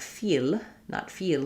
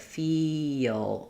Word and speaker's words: feel: So in a word like feel, I don't want to go right from the E to the L, not feel, but feel, feel, which means if I'm moving from the E or the A, fail, that I'm going to have a y sound before my ul.